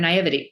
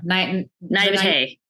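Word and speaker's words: naïveté: And this is a 16, 17-year-old girl, and you took advantage of her naivety, or her naivety. No, naivete. Yes, naivete. Yes, thank you.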